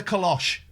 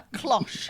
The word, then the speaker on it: cloche: minutes, someone knocks at the door with a kalosh. A what? A kalosh. A cloche.